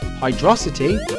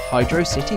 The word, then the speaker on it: Hydrocity: the zone is pronounced hydrosity similar to the word velocity or Hydro City Zone the Katakana in